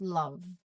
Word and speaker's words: love: The E is silent, but it doesn't make the O sound long. Okay? It's love only. It's pronounced as love.